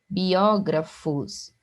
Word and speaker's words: biógrafos: Observe aqui, ó, biógrafos, não é biógrafo, né, não é bio. Então, aqui, ó, a gente sabe que nós temos um hiato novamente, ó, o som do I, o som do O ficam em sílabas separadas.